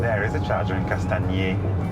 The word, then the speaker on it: Castagniers: There is a charger in Castagners. Castagners? Castagners. Am I saying it wrong? No, you're pronouncing the G, and you don't need to pronounce the G.